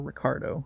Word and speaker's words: Ricciardo: r sorry number one daniel ricciardo or ricardo as it should be pronounced for also from edible